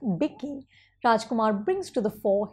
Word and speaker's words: Vicky: But as Vicky, pronounced Bicky, Rajkummar brings to the fore his vulnerability and charm.